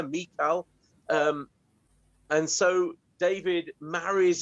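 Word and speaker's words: Michal: saul this woman who's not called michael she's carried she's called mikal or however you want to pronounce it i think pal got it just about right there mikal um and so david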